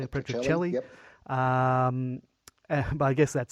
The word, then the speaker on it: Petrocelli: Petrocelli.